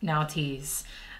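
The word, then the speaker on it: Nauthiz: which we have nties let me just make sure I'm pronouncing that right here okay yep now tease uh it translates literally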